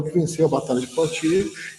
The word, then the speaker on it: Poitiers: Se fala Poitiers, mas é uma expressão, é uma pronúncia francesa, tá, gente? Em português ele escreve Poitiers, tá?